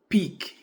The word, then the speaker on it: pique: that it is fusty our next word is Peak it is different from pick to Peck means to